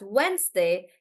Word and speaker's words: Wednesday: spelling of the word you would probably break it up into three syllables right wed Nest day however this is why it's important to say the word out loud and to pronounce it and then decide the syllable How many syllables are there so I will pronounce this as Wednesday and then I would